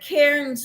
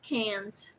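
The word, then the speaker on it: Cairns: made with queensland um cans c-a-i-r-n-s i caught say karen's but it's australian yarn yarn from australia and australian people say no it's pronounced cans you got the oh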